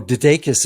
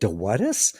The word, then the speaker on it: DeDakis: Although Dadakis is one of those tricky names. It's like Dawadis. So I'll spell it.